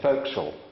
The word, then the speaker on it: fo'c'sle: said to me David I think you'll find it's bosun and fo'c'sle Thank You rusty I wonder why they don't spell it like that in the script and he said well